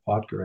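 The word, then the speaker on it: Potger: guy in The Seekers Keith poer p o TG R poer I think would be the pronunciation he relaunched the ban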